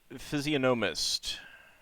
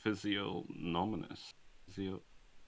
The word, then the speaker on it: physiognomist: Aerosaltant Phantasmagoria's Physiognomist. I had it as physiognominous. No, physiognomist. It's physiognomist that you wrote.